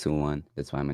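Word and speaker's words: Tuan: My name is Tsuwan. It's pronounced T-U-A-N or spelled T-U-A-N. So it's Tsuwan.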